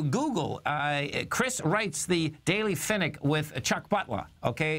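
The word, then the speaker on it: Pfennig: And, of course, you know, folks, when you Google, Chris writes the Daily Finnick with Chuck Butler, okay?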